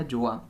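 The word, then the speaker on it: Gjøa: नीचे उसने बताया हुआ कि इसको हमने किस तरह से प्रोनाउंस करना है, प्रोनाउंस्ड एज जोआ, ठीक है, राइट। तो ये वाला जी जो है इसके अंदर साइलेंट है।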